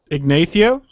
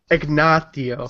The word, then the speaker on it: Ignio: it's be pretty fun igno yeah ignio you need to say it right ignio sorry ignio in game